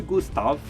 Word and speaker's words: Gustav: Eu pronunciei Gustav porque é mais ou menos assim que se pronuncia o nome dele, tá?